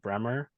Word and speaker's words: Bruemmer: I'm saying it right, Bruemmer.